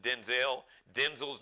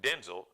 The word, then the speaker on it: Denzel: Because we've been pronouncing Denzel's name wrong. So it's actually Denzel, not Denzel. With Denzel Washington.